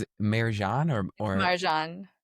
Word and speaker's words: Marjan: You know, it it's actually to be fair like the way my mom says my name is in a far seat.